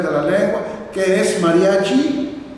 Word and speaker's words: mariachi: Es que eh es que la palabra mariache, aquí está escrita, mariache, está con e, pues que los indígenas nunca pudieron pronunciar la palabra mariache con él, siempre dijeron mariachi, mariachi, mariachi. Pues se quedó mariachi.